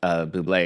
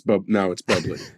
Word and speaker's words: Bublé: And he insists, and Michael does try to say it's actually pronounced Bublé, and he's like, and John like very menacingly says, "That's not." No, now it's Bubbly.